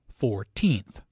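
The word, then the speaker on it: fourteenth: 14th. Notice that we use the th for ordinal numbers starting with 4, but first, second, and third. The stress is on the second syllable, 14th.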